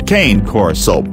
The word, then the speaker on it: Cane Corso: struggling to choose between a Cane Corso, phonetically pronounced as KAH-NAY KOR-SO, and a Doberman Pinscher,